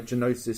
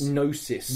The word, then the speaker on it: Gnosis: it was done by genosis Studios nosis nosis stud we've been getting it wrong the entire time the g is silent hey look that's that's